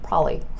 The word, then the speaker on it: probably: am I saying there I'm not saying probably I'm literally saying prolly like prolly except when I say